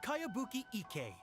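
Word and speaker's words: Kayabuki Ikkei: It's pronounced Kayabuki Ike.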